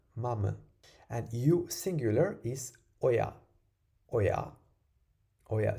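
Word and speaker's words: ඔයා: And you singular is oya, oya, oya. So you have to stress the ya of oya.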